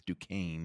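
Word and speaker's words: Duquesne: The only one we say sort of, right, is Dukane.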